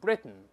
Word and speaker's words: Britain: 老师刚才读成了 Britain，咱们先说 Britain 是鼻腔